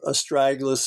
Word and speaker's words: astragalus: How about, and I'm sure I'm going to pronounce this wrong, but I've seen it before. Is it astragalus?